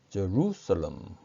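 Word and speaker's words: Jerusalem: 그리고 예루살렘의 경우에는 제루살렘, 제루살렘 혹은 제루살렘 이렇게 발음합니다.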